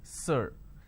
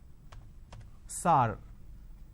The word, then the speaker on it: sir: Majority of the people pronounce the word sir as sar. Sar, can you please answer my question? So instead of saying sir, they say sar.